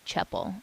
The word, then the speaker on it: Csepel: And her last name is spelled Csepel, which is pronounced Cheppel.